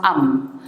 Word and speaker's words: amphibians: You have amphibians, it's pronounced amphibians. It's a 3-syllable word, okay?